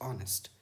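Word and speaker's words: honest: है, ऑनेस्ट adjective है, लेकिन ऑनेस्ट में एच का साउंड साइलेंट है और ओ लेटर का साउंड यहाँ आ रहा है ऑ, दैट इज ऑनेस्ट, और ये वाउल साउंड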